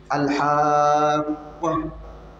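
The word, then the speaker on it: الحاقة: Pour prononcer ce mot en arabe, il faut bien prononcer, il faut bien tirer. En arabe, il y a ce qu'on appelle le tirement, al-moudoud. Il y a des sons qu'il faut tirer.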